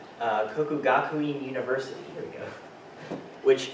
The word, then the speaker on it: Kokugakuin: Yes, that Apologize is if I butchered that. Kokugakuin University, There we go.